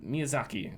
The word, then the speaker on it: Miyazaki: Lane said a bunch of stuff um Mia Miyazaki is that how you pronounce it correct yes from uh elen ring